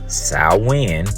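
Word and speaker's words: Samhain: modern times saw in a Gaelic word pronounced Sal win like I said is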